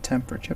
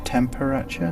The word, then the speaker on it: temperature: Maybe conditions became unlivable in some other way, temperature perhaps. Notice that's temperature, not temperature. 4 syllables, not 3. It's locked.